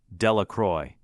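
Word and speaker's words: Delacroix: Jones and Dicky dakawa the villagers pronounced this name delacroy eventually made a great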